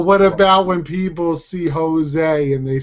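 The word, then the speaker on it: José: Joe's only because Jo's Jose is what they call but here's the problem right in English you pronounce the J in Spanish you pronounce j as an H H exactly all right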